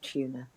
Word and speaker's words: Tuner: But tuner, the main character is a piano tuner. The way it's pronounced it's set in America, that it sounds like the fish, but it's not the fish. It's tuner, as in piano tuner.